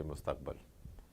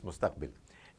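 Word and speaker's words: مستقبل: Instead of saying mustaqbil, you would say mustaqbal. You know, his mustaqbal is not right. But obviously, it's mustaqbil.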